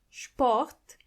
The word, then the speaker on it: Sport: When you see an S before a P, you have to automatically pronounce the S as sh, even if there is no C or H. The S is pronounced as sh as long as there is a P after it.